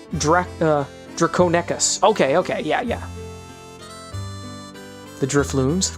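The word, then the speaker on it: Draconequus: It would make ponies feel unease that the place was haunted by draconious ghosts. Well, now's a good time to reflect on the incredible journey. Aether Drew says pronounced Draconecus.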